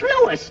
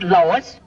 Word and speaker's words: Louis: Me name is Louis, not Lois. Gee whiz, everybody in Twipolate's me name wrong. It's Louis.